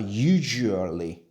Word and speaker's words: usually: 그냥 s를 g처럼 발음을 해도 괜찮아요.